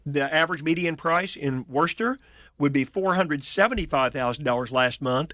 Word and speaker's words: Worcester: It's, I believe you pronounce it Worcester, and it's a cheaper.